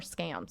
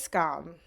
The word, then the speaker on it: Scum: and also your show do you pronounce it scum or scam scum right it's scum scum which I SC